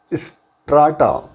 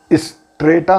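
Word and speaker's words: strata: Next word हमारा आ गया स्ट्राटा। American pronunciation स्ट्रेटा है, स्ट्रेटम है, या उधर स्ट्रेटा है, और ऑक्सफोर्ड है स्ट्राटम और स्ट्राटा।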